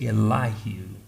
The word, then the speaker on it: Elihu: younger of the four his name was elahu some scholars pronounce it elijah and elihu came and he jumped